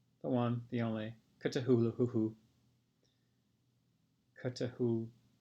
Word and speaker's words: Cthulhu: Cthulhu. Make sure you pronounce that second H.